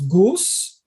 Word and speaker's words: goose: So Yeah, but the animal, in the case of the animal, I'm gonna pronounce goose or goose. goose, Goose. goose. It's the same as loose.